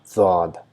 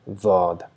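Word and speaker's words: ضاد: the grinding teeth, and we try to produce a sound D, but because of the touch, small slight sound of Z is produced, Daad, Daad.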